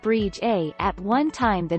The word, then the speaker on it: Bride: In the Scottish Gaelic language, the name is spelled Bride and is pronounced Brige A.